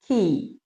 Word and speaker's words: quay: እንዳሰብኩት አልሄደም ማለት ነው። Number 2, key.